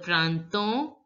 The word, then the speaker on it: printemps: So, here, P and S are not going to be pronounced. Le printemps est une.